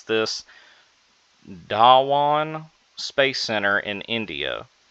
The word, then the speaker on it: Dhawan: licensed Bluebird 6 satellite is set to launch on December 15th from the Satish, excuse me for trying to pronounce this, Dhawan Space Center in India.